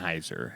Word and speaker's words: Sennheiser: Sennheiser is how it's pronounced.